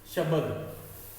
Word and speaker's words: शब्द: शब्द लिखा है, शब्द। शब्द नहीं होता है, शब्द होता है। शब्द उच्चारण से हमने जाना कि ब पूरा नहीं होगा, यहाँ पे आधा ब होगा।